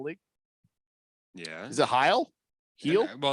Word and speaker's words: Hield: What did Buddy Heal? Here, boy. Heel.